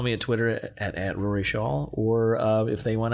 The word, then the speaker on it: Scholl: And it's Shawl. Shaw. Yeah. Shaw. Well, how do you pronounce it? I pronounce it Shaw.